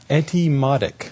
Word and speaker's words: Etymotic: I dare you to pronounce the name of the company. I know, it's hard. It's... Etymotic.